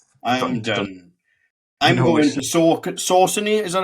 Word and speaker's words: Saucony: I'm going to Saucony. Is that how we say it? So, how do you say it? Saucony.